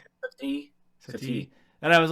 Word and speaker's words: Satie: Satie.